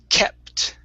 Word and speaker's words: kept: job uh next word kept all right now with this t at the end make sure to not use a spanish tea okay the difference being